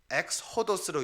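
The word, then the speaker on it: ἔξοδος: 근데 이 위에 이 헬라어에 우리가 발음을 해서 보게 되면 뭐냐면요, 엑스호도스로 읽습니다.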